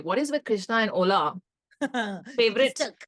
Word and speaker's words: Hola: What is with Krishna and Ola? Favorite. Stuck. It's his word of the year. And a lot of people have been saying hola. It's not. The H is silent, just letting you all know.